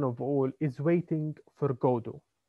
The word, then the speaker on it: Godot: Uh, the most important one of all is waiting for Godot. Now the T is silent, okay? So waiting for Godot, not Godot.